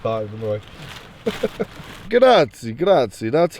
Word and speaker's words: grazie: Grazie, grazie.